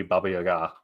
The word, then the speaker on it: Baba Yaga: Speaking of old hags, reminds me of Baba Yaga. I guess it should be Baba Yaga, is the proper pronunciation.